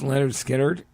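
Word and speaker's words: Lynyrd Skynyrd: That record, pronounced Leonard Skinnerd, is one of the greatest things ever fucking recorded.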